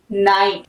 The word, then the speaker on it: knight: ठीक है, के साइलेंट, नॉलेज। KNIGHT, नाइट।